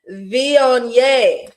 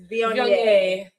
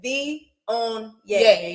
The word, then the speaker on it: Viognier: Viognier. That's how you say it. That's how you say it, y'all. I know it looks like Viognier, but it's Viognier. Okay, Viognier, y'all.